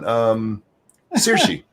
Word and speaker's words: Saoirse: How do you pronounce it, monkey? How do we? Oh, which one? Saoirse.